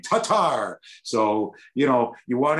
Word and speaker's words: Tatar: on the air now everybody wants to be tomasz tomash to targe they liked it better because chats loved when i said his name tatar so you know you